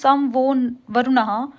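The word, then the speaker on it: शं नो वरुणः: नम कर रहे हैं नमस्कार कर रहे हैं प्रोनाउंस सम वो वरुणः which means B ऑस्पी शियस टू अस ओ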